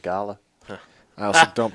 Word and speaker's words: Gala: talked to Dave uh and he has a Gayla auction or guy oh is it Gayla or Gala Gayla I always said gala gala G is it I always say Gayla I've always said Gala I also don't pronounce a lot of things wrong there's a